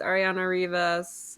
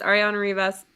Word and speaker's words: Arianna Rivas: shout out and be like, hey, Cowgirl, it's Arianna Rivas. Is that how you pronounce her name? Mhm. Yeah. Okay. Hey, Cowgirl, it's Arianna Rivas.